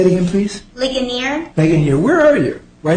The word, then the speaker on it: Ligonier: the matter of G versus the pman the pronunciation is it Leon leer say it again please leaner leaner where are you I know you're here